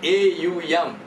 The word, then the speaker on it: Om: Because the word Om is made up of a plus u plus m. So, a plus u plus m becomes there is a u m.